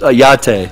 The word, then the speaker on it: YATTE: Or I put it on the first YATTE, like it's like a latte with a Y.